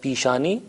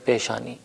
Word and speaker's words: پیشانی: لفظ رائج ہے، البتہ تلفظ تھوڑا سا مختلف ہو جاتا ہے. ہم فارسی میں کہتے ہیں پیشانی اور اردو میں کہتے ہیں پیشانی.